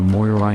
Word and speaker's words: Moirai: three sisters of Fate the Moira or the Moira if you want the Greek pronunciation the sisters were the